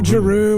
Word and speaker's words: Gerew: Gerew. Is that how you say it? Yeah, Gerew, That whatever.